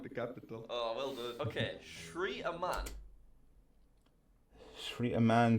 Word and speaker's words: Sri: probably completely wrong so that s r i that's how the sh in shr Lanka is spelled isn't it does that